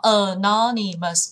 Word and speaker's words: anonymous: Sau đó mình sẽ nhấn trọng âm vào, hay là anonymous, đó, anonymous, bốn âm tiết, sau đó nhấn trọng âm vào âm thứ hai, anonymous, anonymous, hay là achieve, achievement.